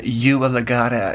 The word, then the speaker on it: Ua Legata: So we just met the Ua Legata here, and I guess that's, if anyone needs pronunciation, Ua Legata is how you say that.